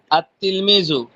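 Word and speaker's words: التلميذ: পড়ার ক্ষেত্রে পড়বেন কি আত তিলমিজু আর লেখার ক্ষেত্রে দেখেন এটাও কিন্তু আত তিলমিজুই কিন্তু এখানে লামটা উচ্চারণ হবে না বুঝতে পারছেন নাকি সমস্যা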